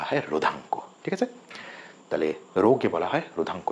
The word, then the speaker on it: rho: ঠিক আছে, তাহলে রোকে বলা হয় রোধাঙ্ক। এর উচ্চারণটা কি বললাম? রো, RHO, এটা একটা গ্রিক লেটার।